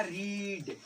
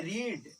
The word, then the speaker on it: read: पहला को V1 को पढ़ते हैं रीड, ठीक है ना, V2 हो गया रेड और V3 भी हो गया रेड। लिखा था वही है, मीनिंग सेम है।